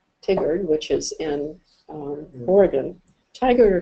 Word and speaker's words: Tigard: Tigard or Tigard, I've heard it pronounced both ways, but I have to talk to someone from Oregon.